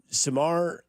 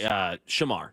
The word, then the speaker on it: Shamar: Samar, is that how you say his name? Sorry, Shamar.